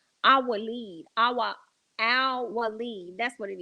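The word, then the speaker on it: Al-Waleed: Well, I think I said his name wrong. Not Aloweed. I'm sorry. I think it was I think it was let me see if I can get this right. Al Walid.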